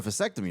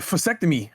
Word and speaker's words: vasectomy: That means, you know, to get a vasectomy. No. A what? Vasectomy. Oh, okay. You said it right this time. What did I say the first time? You said fctomy with a f.